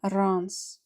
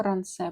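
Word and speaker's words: Rancé: Це Ранс чи Рансе, як правильно, по-моєму, Рансе правильно читається.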